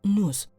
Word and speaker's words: nous: sino que se utilizaba la palabra nus se escribe nous ahí te lo dejo